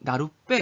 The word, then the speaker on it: 나룻배: 빼. 이렇게 배가 빼로 된 소리가 나는데 이렇게 나루배를 나룻배라고 발음하는 걸 뭐라고 하냐면 소리가 덧난다고 합니다.